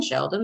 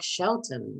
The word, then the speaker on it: Shelton: molly said get in sheldon there's plenty of room she still has his name wrong his name is eric shelton mr jansen said as